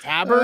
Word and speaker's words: tabard: And then I went and said Musketeer Tabard, and apparently it's Tabard. Oh, Tabard. I didn't know that. So Tabard would be the French pronunciation, but this is English, so it's Tabard.